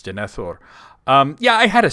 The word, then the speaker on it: Denethor: The answer is Denithor. I didn't pronounce it correctly, but that's okay because they don't pronounce it correctly in the movie. It's Denithor.